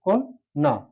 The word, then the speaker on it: কন্যা: জ ফলায় যুক্ত থাকে তাহলে এই প্রথম যে ওয়াটা ও হয়ে যাবে। কি হবে? কোন কোন। এখান থেকে গেলাম কোন না। সঠিক উচ্চারণ কন্যা। যদি বন্যা হয় কোনো শব্দ বন্যা তাহলে কি দাঁড়ায়?